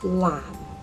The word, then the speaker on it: 藍: And his brother, lamb.